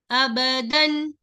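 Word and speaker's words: أبدًا: Hamza fatha, ba fatha ba, aba, dal kasratain, sorry, dal fathatain, dan, abadan.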